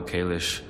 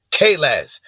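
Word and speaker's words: Kahless: How Kalish united the houses and conquered Konosh. You're saying it wrong. You're saying it wrong. It's Kales and Kronos.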